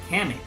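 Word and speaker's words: Cammack: Kamak.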